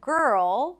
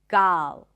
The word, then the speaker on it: girl: So instead of girl, they might say something like gal. Instead of term, tam. Instead of first, fast.